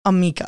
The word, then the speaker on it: Amika: Amika.